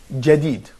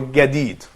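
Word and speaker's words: جديد: So sometimes you can say ja, sometimes you can say ga, and it depends again on where are you from, but it will be the same sound.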